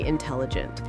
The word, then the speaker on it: intelligent: Stress on the second syllable. Exactly. Tom is very intelligent.